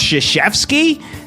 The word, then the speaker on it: Krzyzewski: He's going around telling everybody his name is pronounced Krzyzewski.